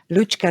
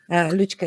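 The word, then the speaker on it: Lučka: yours okay uh well my name is correctly pronounced luchka luchka is like in Lucy in in English well I am a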